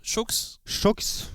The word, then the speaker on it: Chooks: On doit dire Chooks.